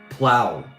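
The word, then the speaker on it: Phlow: It's spelled P H L O W. Plow.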